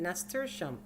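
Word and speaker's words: nasturtium: growing good and i it took me a year to to learn how to say it nestersham that's the shem the monarchs are flying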